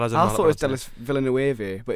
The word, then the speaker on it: Villeneuve: directed by Delis Villeneuve. Is that See, how you say it? I was gonna say that as I thought it was Delis Villeneuve, but it's Yeah.